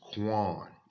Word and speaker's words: Qayin: And the way this pronounces is Qayin.